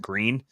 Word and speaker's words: Gruene: There's one it's spelled Gruene, and everyone here calls it green. Whereas my assumption is the German pronunciation is something more like grün.